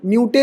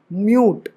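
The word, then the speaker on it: mute: डू नहीं हे dude म्यूट मूटे नहीं म्यूट candle तो साइलेंट नहीं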